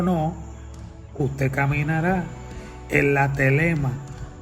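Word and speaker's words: thelema: Que en el griego se conoce como telema. Y telema se escribe T-H-E-L-E-M-A.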